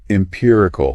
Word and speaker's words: empirical: Empirical, pronounced M-P-I-U. Empirical.